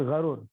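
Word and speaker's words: الغرور: Ya, dibacanya al-gharur di fathil ghain. Jadi bukan gurur tapi gharur, ya.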